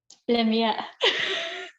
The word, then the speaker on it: Lamyae: Lamyae.